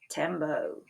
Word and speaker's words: tembo: This sounds the way it looks too, tembo.